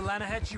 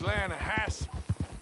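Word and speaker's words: Hetch Hetchy: the other day I rolled down to the Lana Hetchy River I caught some beautiful steelhead trout you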